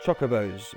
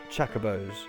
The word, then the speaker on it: Chocobo: Your pronunciation's all wrong. It's Chocobos, not Chacobos.